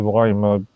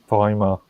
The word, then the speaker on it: Weimar: You keep on calling it the Weimar Republic. Weimar. Remember Weimar. what? Yeah. What the German would use? Weimar. Yeah, the W. It would be a V.